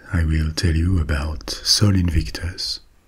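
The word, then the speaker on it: Sol Invictus: will tell you about Soul Invictus or Soul Invictus if we want to pronounce it like the ramens did Solin victus was the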